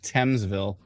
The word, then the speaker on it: Thamesville: everything oh yeah like thamesville no more thanes i don't know why there's a th in there by the way oh i see th instead of anyways let's not get